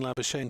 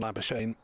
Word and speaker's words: Labuschagne: And watching Labuschagne play.